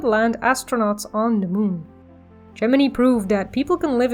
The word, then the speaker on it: Gemini: Now maybe you're thinking, aren't you pronouncing Gemini wrong? Actually, no, that's just how it was pronounced then, the whole mission, everybody that was working on it said Gemini, although I don't think